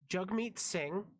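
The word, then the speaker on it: Jagmeet Singh: those that don't know jug meet sing yes it's pronounced jug is one of the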